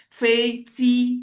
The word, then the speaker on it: 飞机: Ya, jadi kalau dia ditulis huruf J, ya, dia ditulis huruf J, maka harus diucapkan dengan huruf C. Nah, makanya pesawat Feici, tapi tulisannya bukan Feici, tapi Feiji tulisannya. Tapi dibacanya Feici, begitu.